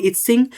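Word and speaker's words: I-tsing: इतंग यहां पे टी क्या है? साइलेंट है। तो इस प्रकार से आप देख रहे हो फ़ हयान ह्वेनसांग और इत्सिंग बेसिकली कुछ प्रमुख तीर्थ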